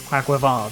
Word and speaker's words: Quaquaval: the correct pronunciation is Quaquaval because it's Quack, Aqua, and Carnaval.